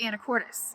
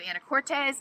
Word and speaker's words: Anacortes: I heard a local say the name of the city recently, I think, and I think it's Anacortes instead of Anacortes. So I really am sorry